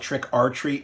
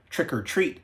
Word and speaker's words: Trick 'r Treat: 2007's trick or treat some people call it Trick r Treat because that's how it's spelled not to be confused with trick or treats from the80s or trick or treat from the80s this is